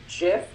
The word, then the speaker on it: GIF: I believe the pronunciation is Jif, like the peanut butter, but Tomato.